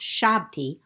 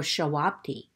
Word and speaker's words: Ushabti: But today, I want to share with you the most common of Egyptian grave goods, the Ushabti, sometimes pronounced Shabti or Shawabti.